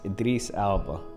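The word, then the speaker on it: Idris Elba: character who's played by Idris Alba or Idris Idris Alba that's how you actually pronounce it hey um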